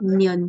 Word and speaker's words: 년: Miot, Nyok, nion.